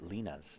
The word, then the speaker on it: Lina: How do you pronounce Lina's name?